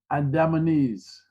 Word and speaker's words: Andamanese: Was it, how do you say it, pronounce that? Andamanese.